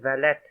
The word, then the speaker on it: Vallet: Him or a family member or is Vallet? She pronounced it to rhyme with mallet.